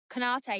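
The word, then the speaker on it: Konaté: Is that how you pronounce his name? Konate, yeah.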